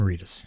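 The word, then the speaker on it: Reedus: Norman Reus. Norman Fetus. Yeah. You didn't know either. You're like, it rhymes with fetus.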